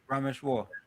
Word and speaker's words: Rameshwar: It's War. Rameshwar.